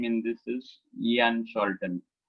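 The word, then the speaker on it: Jan Scholten: A very popular name in this is Ian Sholton, though it is spelled as a J.A. The actual proper name is Ian Sholton.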